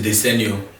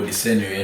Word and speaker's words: Desenio: This is Desenio. Yes, you said it right the first time. Oh, Desenio, yeah.